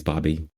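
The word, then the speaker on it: Bobi: and I was like it rhymes with doggy anyways it's Bobby they still didn't make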